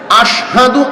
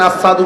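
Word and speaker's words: أشهد: আশহাদু আন্না, আশহাদু আল্লাহ, এই যে আশহাদু শিন উচ্চারণ হইত না, শিনের ক্ষেত্রে সিন উচ্চারণ করতেন, আসাদু কইতেন।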